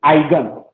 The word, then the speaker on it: eigen: to कहाँ पे EIGEN, आइगन, ई लिखता है स्टार्टिंग में लेकिन छुप जाता है, उच्चारण क्या बोलते हैं, आइगन। कोई ईगन बोलेगा, कोई आइगन बोलेगा, कुछ आइगन, ठीक है ना।